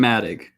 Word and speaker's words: Matic: matic fairy light i'm matic yeah she has been asking for how to pronounce it it's uh matic like mad dig and you slur them together um if that is